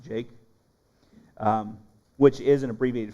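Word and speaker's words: Jakeh: That that's that's actually how it's supposed to be pronounced, Jake.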